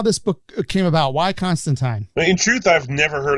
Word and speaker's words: Constantine: And that is how you pronounce the name. He said it right. Constantine. He said it right. Constantine.